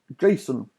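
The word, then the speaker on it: JSON: on our list is Jason which is pronounced like the name Jason but when you write this you drop the a Jason found for JavaScript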